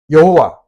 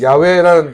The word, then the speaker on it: 야훼: 여호와, 이 여호와라는 말은 야훼라는 것이 원래의 그 발음이라고 말씀을 드렸습니다.